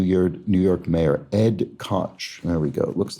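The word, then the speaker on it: Koch: 1980s New York New York mayor Ed Cotch. There we go. Looks like you might pronounce it Ed Ko, but not in this particular case.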